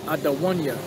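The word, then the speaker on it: אדוני: My Lord in the Hebrew is Adawanya. Adawan with an N, with an I at the end. Adawan, that's Lord. Adawan Yah makes it possessive, my Lord.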